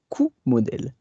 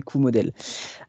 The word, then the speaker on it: Coomodel: En fait, Et du coup, en fait, si tu veux, déjà, dans un premier temps, on dit Coumodèle. La prononciation, la vraie prononciation, c'est Q-Model.